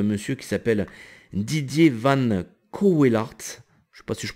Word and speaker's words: Cauwelaert: qui s'appelle Didier Van Cauwelaert. Je sais pas si je prononce bien, hein, je m'excuse pour lui. Alors c'est pas Coe, c'est Cauwelaert. Ça s'écrit Cauwelaert.